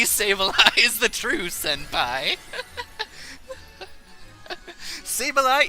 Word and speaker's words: Sableye: Sableye is the senpai, it rhymes.